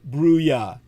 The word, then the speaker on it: Bruya: This is, of course, translated into the English for you by Brian Bruya. Tsai Chi-Chung's name is spelled T-S-A-I, like the weapon, the Tsai.